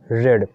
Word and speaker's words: read: Spelling is read, but the pronunciation is read.